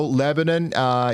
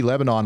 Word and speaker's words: Lebanon: Also, Lebanon, you guys are going to get in on some pretty significant weather too.